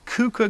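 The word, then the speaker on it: Keuka: we got one called kuka gold i think that's how you pronounce that's k-e-u-k-a gold and so we'll be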